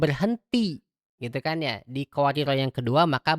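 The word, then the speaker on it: قواريرا: Ya, di kata qawariro yang kedua. Jadi jangan baca misal kanat qawarir itu salah. Harusnya kanat qawariro panjang.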